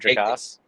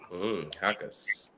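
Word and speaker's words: Jacas: It is not Jakas. It is a I knew it with a a word. Gabe. The J is silent. Hakas.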